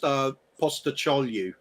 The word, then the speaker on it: Postecoglou: It's pronounced Postecoglou.